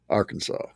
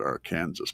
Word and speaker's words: Arkansas: You have to pronounce Arkansas Arkansas.